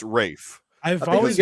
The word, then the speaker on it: Ralph: Rafe. Earl said Ray. Rafe.